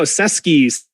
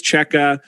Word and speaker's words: Cseke: hard to pronounce uh everyone's always saying oh cesky seki uh you know so anyway it's cheka uh he's a great